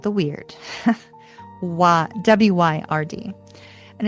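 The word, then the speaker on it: wyrd: It's called the weird.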